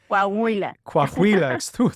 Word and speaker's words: Coahuila: So for those people listening, Coahuila, excuse my pronunciation, Coahuila. Coahuila, thank you, is a state.